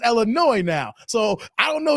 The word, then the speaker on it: Illinois: videos and he says Illinois the S is silent here all right so let